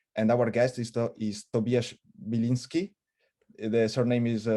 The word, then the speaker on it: Biliński: And our guest is Tobiasz Biliński. The surname is pronounced correctly, Biliński.